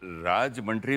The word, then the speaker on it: राजमुंद्री: जय जी, ये राजमंड्री में आप पैदा हुई थी क्या? तो प्रोनाउंसिएशन करेक्ट है ना? राजमुंद्री. राजमुंद्री.